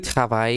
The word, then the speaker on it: travailles: Tu travailles. Final S that you don't hear.